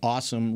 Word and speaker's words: Asim: multiple places, like the Awesome Richards, the tackle in the 5th round. What's his name? Awesome. It's not a C. ASIM, but it's pronounced awesome.